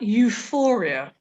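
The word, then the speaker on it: EUFOREA: very useful information at euphoria and that is spelt e-u-f-o-r-e-a it's the european forum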